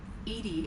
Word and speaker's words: EDI: are you named edie edie is the phonetic pronunciation of edi that is an acronym for enhanced defense intelligence okay how are you